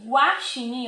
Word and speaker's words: guaxinim: Ó, quando eu falo o nome guaxinim, ó, guá. Tá vendo que eu falo a letra U? Diferente de guitarra.